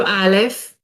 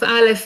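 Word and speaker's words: אלף: it is a consonant it's silent sorry unless it is a company accompanied by any code the pronunciation of alif is similar to the letter a in english so i show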